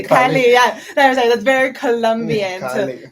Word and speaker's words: Cali: Cali. Very like a hard C, like K. They're pronounced the vowels like Cali.